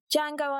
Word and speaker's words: Django: best just the best Django and Jane make sure you watch it and remember the D is silent right it's 2013.